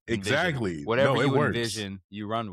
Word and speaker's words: NVZN: So, it's actually pronounced Envision. You can say it the way it looks.